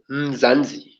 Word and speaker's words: Mzansi: Okay, now my other channel, how to pronounce that one. Now, Jody eventually got it right. I think Lexi was there when he got it right. It's Dead Mzansi.